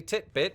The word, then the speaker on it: titbit: out today is titbit basically titbit which you wondering rhymes with Fitbit is an alternate spelling